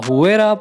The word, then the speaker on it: Huayra: The Huayra, pronounced Huayra, boasts an AMG-sourced 6-liter V12 with 2 turbochargers, resulting in 620 horsepower and a massive 740 pound-feet.